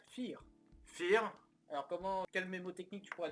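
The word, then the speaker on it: vier: Fear. Alors quel mémotechnique tu pourrais donner? Personnellement, le mot anglais fire, donc tiré, et je le prononcerai à la française, donc fear.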